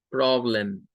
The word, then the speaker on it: problem: Y luego ya veíamos prob, es la sílaba tónica, y lem es donde aparece el schwa. Problem.